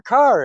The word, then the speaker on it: Kerr: uh uh so yeah Deborah car it rhymes with star as as Sammy Goldman uh